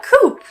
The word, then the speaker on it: coup: So, the P is silent at the end.